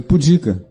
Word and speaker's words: pudica: Não, se pronuncia pudica. Pudica. Pudica. Seria pudica. Seria uma proparoxítona, mas não é uma proparoxítona, é uma paroxítona.